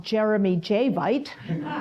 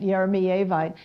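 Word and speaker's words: yeremeyevite: And the Yeremiyevite, that I used to call Jeremy Javite, okay? Because hardest part to me of becoming a mineral collector was learning how to pronounce the names of most of them, the poldervaertites and the things like that, but Yeremiyevite. And I was told that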